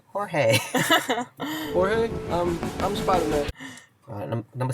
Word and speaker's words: Jorge: It's a name with a silent J at the start. Jose. Oh, so close. Jorge. Yeah. Jorge.